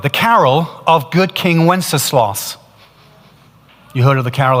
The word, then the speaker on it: Wenceslas: It's three sounds. Let's do it together. Wenceslas. Put it together. Wenceslas.